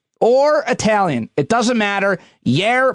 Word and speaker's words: Jair: Jair Bolsonaro, I think you pronounce the J as a Y, says no matter what, he is not getting the vaccine.